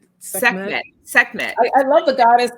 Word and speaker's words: Sekhmet: Schem- Oh, Sekhmet. Sekhmet.